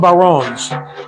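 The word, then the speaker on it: bodhrán: now this is uh it's spelled differently than it sounds but these are called Baron and uh you've probably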